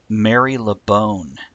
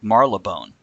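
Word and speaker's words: Marylebone: Here's Mary LeBone. Oh. Now, I'm sure it's actually pronounced like Marlebone.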